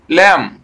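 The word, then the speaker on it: lamb: চলো আমরা একবার পড়ে দেখি কি লেখা আছে, দেখো এল এ এম বি কি হবে, ল্যাম, কারণ আমরা বি উচ্চারণ করব না, এটি হলো ল্যাম, এটি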